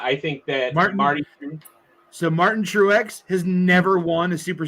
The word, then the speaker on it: Truex: Racers true is it the x is pronounced it's true X true X wow okay so you